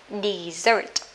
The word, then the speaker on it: desert: nó lại đọc là desert. Desert, danh từ với tính từ á, mà hai âm tiết thì thường nhấn vào một.